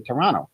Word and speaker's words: Toronto: Yeah, I know you're from Toronto because you said that you didn't pronounce the second T. Toronto. That's how you people say it.